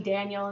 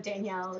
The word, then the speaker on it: Danielle: like all the mispronunciations They call me Daniel instead of Danielle even though it's spelled differently and you'd think that you would see like Danielle and why would you pronounce that Daniel I don't know but